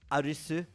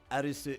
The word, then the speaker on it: Arisu: there's a character named Arisu. Uh which, uh they overpronounce in the uh English dub. They always call him Arisu. Arisu. Arisu. Um, but obviously Alisu is a Japanese uh surname.